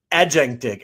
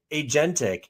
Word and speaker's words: agentic: I called it aentic. I mispronounced it too. Those people who said what is internet you know like 30 years ago. So I said agentic and I mean I